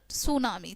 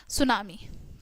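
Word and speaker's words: tsunami: also known as सुनामी pronounced सुनामी ठीक है यहां पर लिखा हुआ है टी सुनामी ठीक है बट इसको हम प्रोनाउंस करते हैं सुनामी ठीक है तो टाइडल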